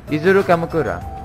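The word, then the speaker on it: Izuru Kamukura: think I pronounced it well how was it pronounced yet isuru Kamakura what what I think I I think I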